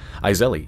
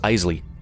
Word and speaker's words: Isley: Yes, I found out that it is not pronounced Iseli, it is pronounced Isley.